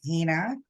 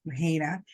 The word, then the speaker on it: Heinna: hello hello hello everyone uh my name is Hana um of course um coming in just want